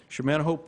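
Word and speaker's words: Chemin-A-Haut: Cheminahot is how you say it? Cheminahot? Okay. Cheminahot State Park, the restoration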